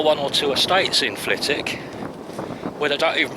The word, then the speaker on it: Flitwick: have they got in flitik swiftly on although anybody from the area doesn't pronounce the w nobody calls it fleetwick there are one or two estates in flitik where they don't even